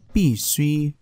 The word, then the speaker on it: 必须: Ở trong video này thì chúng ta hãy cùng nhau phân biệt hai từ đọc là bì suy và bì suy.